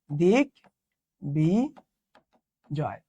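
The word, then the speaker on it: দিগ্বিজয়: তো দেখেন তো এখানে কি এই যে ক থেকে এই গটা চলে আসলো না, এখানে যে বটা আছে না, বটার উচ্চারণ বজায় থাকবে। এটার উচ্চারণ হবে দিক বি জয়।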